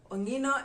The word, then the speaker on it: ongino: an ant in the luo is called onino ongino is written as o-n-g-i-n-o ongino so that would